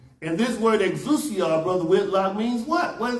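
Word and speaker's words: ἐξουσία: The, let's see if I can pronounce it right. The Greek word for it is exousia.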